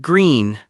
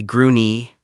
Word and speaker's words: Gruene: Quick pronunciation note, it's pronounced green. Don't say Grooney.